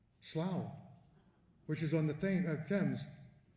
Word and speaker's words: Slough: Well, first of all, that Slough, like Thoughh, tough, or Rough, rough, is really pronounced over there like cow, Slough, which is on the Thames, near Reading, in Berkshire.